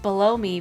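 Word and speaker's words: Belome: pipe already informed you that balloon for mario rpg is pronounced below me because he lives in the sewers it's a pun ah i'm trying to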